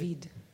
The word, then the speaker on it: Daveed: David. Can you tell us something about it? Well, it's in my case, it's Hebrew. It's a Hebrew pronunciation of David.